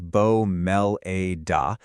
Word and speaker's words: Bomellida: The name Bomellida, and you say it like Bo-mell-ee-dah, was actually pieced together on purpose.